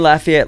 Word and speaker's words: Lafayette: us I was in Lafayette Louisana and that's how you say it not laia um last weekend ready